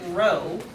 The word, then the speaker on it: rho: If you want to use the corresponding Greek letter that goes for the population, it's a Greek rho. You spell it R-H-O, rho.